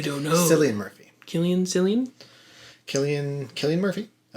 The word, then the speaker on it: Cillian: name well he wasn't he's not the first one to be named killian with the hard c sound yeah but maybe he